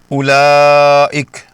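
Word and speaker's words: أولئك: اسے لمبا نہیں کرنا، اس کا صحیح تلفظ ہے اولئک، یعنی حمزہ کی پیش کو بغیر کھینچے سیدھا اگلی لام سے ملا دینا ہے، واو کو بالکل ہضم کر جانا۔ اولئک یہ صحیح ہے،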